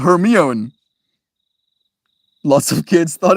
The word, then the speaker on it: Hermione: It was pronounced Hermione. Lots of kids thought it was pronounced Hermione.